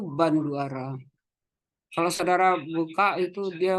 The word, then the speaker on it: Bandura: kalau bu Hani itu banduara nama tulisannya bandura tapi dibacanya itu banduara kalau saudara buka itu